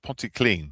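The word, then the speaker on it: Pontyclun: to ponty clean John that's pronounced ponty clean for you over the border enjoy what a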